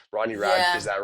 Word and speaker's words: Ronnie Radke: like yes, the Machine Gun Kelseys and the Ron Rathkeys and the like. I don't know how to say the name. Ronnie Radke, is Yeah.